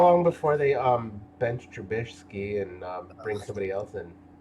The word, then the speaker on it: Trubisky: How long before they bench Trubisky and bring somebody else in? Every time you say his name, don't you want to say Trubinsky? It's like he's missing a letter.